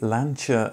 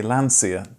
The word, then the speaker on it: Lancia: l l l l Italians say lancha and Brits say Lancia this video goes out to an international audience so I'm going to say it the way it's said by the people who founded the company as that seems to make the most sense I hope it doesn't